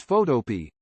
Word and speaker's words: Photopea: author Ivanhoe 90 says I pronounce it like a vegetable Pea or like Black Eyed Peas smiley face this reply